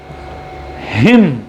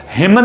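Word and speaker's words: hymn: आगे बढ़ रहे हैं, कंडेम, हिम, इसको हिमन नहीं बोलेंगे, इसको क्या बोलेंगे? हिम।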